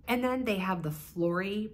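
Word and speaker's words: Flori: then they have the Flory bag I assume that's how you pronounce it f-l-o-r-i which to me I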